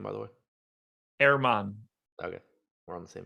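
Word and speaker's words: Germán: How do you pronounce Marquez's first name, by the way? Erman.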